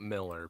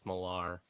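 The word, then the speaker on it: Millar: how you pronounce it I'm pretty sure it's not Miller people keep saying Miller it's like no it's malar yeah yeah I heard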